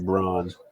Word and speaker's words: Braun: Christian Brown even though his last name is spelled Braun I don't care what you say it is bronze so he dropped like